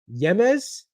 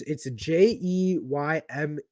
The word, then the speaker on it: Jeymes: Yemes, Yemes. Why? It's Jeymes.